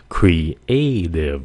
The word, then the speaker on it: creative: Bạn phải phát âm âm này là "creative ". Ba âm tiết nhé.